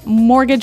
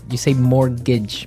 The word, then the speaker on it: mortgage: I mean, there's this strange mortgage with a T. Yeah, it has a T in it, but you don't pronounce it. You say mortgage.